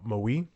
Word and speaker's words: MWE: fictional Korean pop acts mwe pronounced uh Moi the boy band F